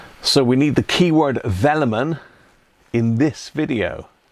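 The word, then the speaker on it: Velleman: think we ought to have have the keyword vellon in that don't you just just to give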